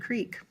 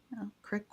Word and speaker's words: creek: I think they all said creek, which I'm surprised, especially on my mom's side. But crick was, I actually got that from Tony's mom.